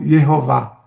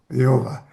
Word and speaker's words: Jeová: que introduziu as vogais do nome Adonai nas quatro consoantes do nome divino. Aí ficou Jehová. Jeová. Então é uma pronúncia artificial que chegou que chegou ao ocidente.